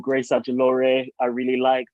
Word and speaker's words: Ajilore: a lot of, there's a YouTuber called Grace Adjolore I really liked, like random influences. How do you say her name? Grace Adjolore? Adjolore, yeah.